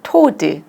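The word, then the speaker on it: toad: 토드 여기 D발음이니까 OA가 좀 길게 얘기하면 되거든.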